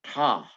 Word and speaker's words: Ptah: And his name was Ptah, Ptah. The P is silent.